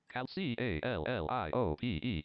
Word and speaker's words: Calliope: Let's just spell it here. Blank. C-A-L-L-I-O-P-E.